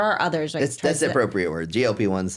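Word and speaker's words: GLP-1: others that's appropriate word glp one's the way to say it you never know anymore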